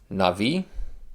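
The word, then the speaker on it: נביא: Navi, noon, bait, without the dogish, so it's a V. And then this yod is connected to that E, so it's na, V, and then of course the aleph is silent.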